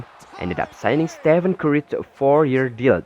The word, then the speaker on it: Stephen: Instead of calling him Stephen, they referred to him as Steph On.